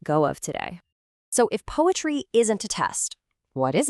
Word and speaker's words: PoAItry: of their visuals, but it's pronounced just like poetry, because their whole philosophy is that the only piece of tech that truly matters here is the human heart.